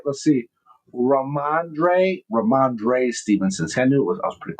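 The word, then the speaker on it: Ramondre Stevenson: Uh uh Ramande Ramande Stevenson. Did I say it right? Let's see. Ramandre Ramandre Stevenson.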